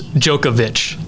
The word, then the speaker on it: Djokovic: let's see here Novak is it the D silent like Djokovic you're close Djokovic Djokovic so you're right you were right with the D being silent but Djokovic Djokovic okay